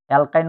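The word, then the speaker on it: alkyne: এলকিনের উচ্চারণটা হয় ইনের মতো, ইনের মতো। অ্যালকাইনের উচ্চারণ হয় আইনের মতো, YN, আইনের মতো।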